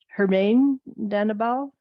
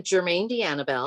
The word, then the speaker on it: Jermaine D'Annabelle: Hermaine Danabal? Really close. I'm Jermaine D'Annabelle.